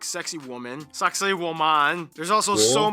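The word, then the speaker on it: Sacsayhuamán: This one, you're kind of supposed to pronounce it like sexy woman.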